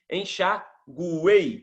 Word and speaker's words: enxaguei: Eu pronuncio o som do U, E, I. Enxaguei.